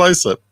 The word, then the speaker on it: Islip: Islip. Yeah. Khalila. He's charged. It really is Islip. It's pronounced Central Islip. I'm not making that up.